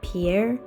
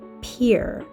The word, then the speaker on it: Pierre: believe I pronounced it Pierre but doing a little research I see that it's pronounced Pier as in Pier through the window not Pierre as in Peter as we pass through